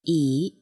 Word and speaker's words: 以: person placing the stone the pronunciation is the first syllable of Israel e e e e e